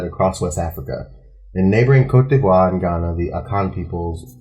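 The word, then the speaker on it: Côte d'Ivoire: How do you pronounce that? Cote d'Ivoire. Cote d'Ivoire. Cote d'Ivoire. Cote d'Ivoire. It's French. Cote d'Ivoire.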